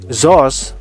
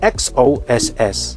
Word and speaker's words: XOSS: It's up to you na pala whether you pronounced it as ZOS or XOSS.